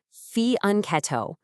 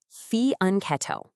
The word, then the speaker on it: fianchetto: It's pronounced fian uncetto fian uncetto.